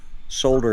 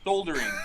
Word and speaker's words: soldering: So we use the French version where the L is silent.